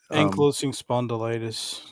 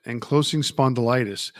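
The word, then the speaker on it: ankylosing spondylitis: Enclosing spondilitis. That's how you pronounce it. Enclosing spondylitis.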